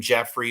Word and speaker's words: Geoffrey: By the way, the way this name Jeffrey is spelled is Geo FF Y.